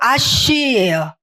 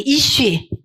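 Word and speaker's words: אִישׁ: 남자는 히브리어로 아쉬요. 아니 이슈. 여자는 이샤. 그래서이 쉬에서 파생돼서 나왔기 때문에이 쉬려야 뗄 수가 없어요. 단어만 봐도이 여자를 남자에게서 만들었다라고 했잖아요. 그래서 여자라고 읽컫는다. 이쉬 이샤 뗄 수가 없는 불가분의 관계가 어 있죠.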